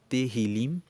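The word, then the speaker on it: Tehilim: é um livro que no hebraico se fala teril e teril significa louvores rim se escreve t e h i l i m ter hilm significa louvores é um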